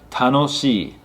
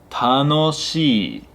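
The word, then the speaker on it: 楽しい: And this is a long e sound, so it's not tanoshi, it's tanoshii.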